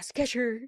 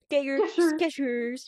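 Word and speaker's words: Skechers: There's no Yeah, sketcher, baby. Sketchers.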